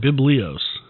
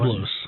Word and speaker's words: Byblos: I I I keep wanting to call it Biblios. I that's why I want to keep quiet. But it's Biblo.